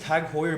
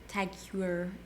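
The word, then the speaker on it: TAG Heuer: Yeah, so actually we opened the second Tag Hoyer boutique in Canada couple years ago now which was in Ottawa. So that was our first Tag Hoyer boutique.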